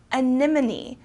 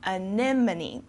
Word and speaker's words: anemone: are my favorite plants so this uh word is difficult to pronounce because it has a lot of vowels together so again animony okay next we have comfortable